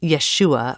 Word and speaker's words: Yeshua: In Aramaic, it's Yeshua, but according to the book and Carissa, both are fine. I say Yeshua.